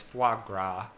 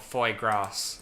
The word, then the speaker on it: foie gras: i know that so the correct pronunciation was foie gras no not foy grass okay well i'm gonna